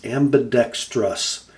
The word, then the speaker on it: ambidextrous: that word my friends ambidextrous ambidex there is no I before the OU that was for you